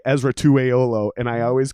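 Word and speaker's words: Esera Tuaolo: I can say his name, no problem. Right. Ezra Tuaolo. And then just recently I realized I've been saying that wrong. It's Tuaolo. Yeah. So halfway through, I'm about to say it wrong.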